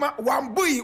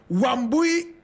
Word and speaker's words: Wambui: decided to call herself Wambui Wayaki Otieno Mbugua. You want to hear it again. Wambui Wayaki Otieno Mbugua. Wambui is spelled W-A-M-B-U-I. Wayaki is W-A-I-Y-A-K-I.